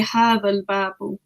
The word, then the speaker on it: هذا الباب: But as we know, the first letter of al-babu is known as hamzatul wasl. Yeah. And is only pronounced at the beginning of a sentence. That's right. So we say hadhal. That's right. We move straight to the lam. Okay. We skip that hamzatul wasl.